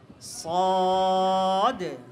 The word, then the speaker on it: ص: সদ এবং দ, ত, দ, এই 4টি হরফ উচ্চারণে আমরা একটা ভুল করে থাকি কি, আমাদের ঠোঁটকে লাড়াচাড়া করি, ঠোঁট গোল করে ফেলি। ঠোঁট গোল করা যাবে না, ঠোঁট একদম খোলা থাকবে, মেলা থাকবে।